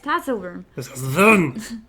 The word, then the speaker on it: Tatzelwurm: We have the Tatzelwurm. I learned it earlier because Chad told me how to pronounce it. Tatzelwurm? Tatzelwurm? But it is... Yes, Tatzelwurm.